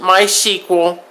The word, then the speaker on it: MySQL: common database is MySQL some people will pronounce it my sequel but the database has